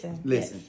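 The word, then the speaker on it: Lizzen: Listen. Yes. But they spell your name L-I-Z-Z-E-N, but it's pronounced listen, because I want you to listen to my voice.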